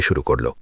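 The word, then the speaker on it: شرك: লক্ষ্য করুন আমি শব্দটি কিভাবে উচ্চারণ করছি। মালয়বাসীরা আমার কথা শুনুন। শব্দটির সঠিক উচ্চারণ হলো শিরক। এটি এক সিলেবেল বা এক শব্দাংশের। একে দুই ভাগে ভাগ করবেন না।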